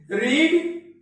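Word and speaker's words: read: रीड, रेड, रीड। ये first form रीड है, second form रेड है। दोस्तों स्पेलिंग सेम है पर पढ़ने के लिए इसको हम रेड पढ़ेंगे।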